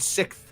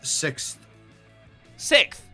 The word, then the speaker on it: sixth: Maths, Trolley and sixth. maths, car park, and centrifugal. Centrifugal. Yeah. Centrifugal. The bullshit way you guys pronounce sixth. Sixth. Sixth. Six? That's incorrect. It has an X in it.